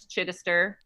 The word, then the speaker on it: Chidister: well it's funny because my maiden name was chidister no one spelled it right or said it right ever um it's spelled c-h-i-d chin esther e-s-t-e-r seems simple is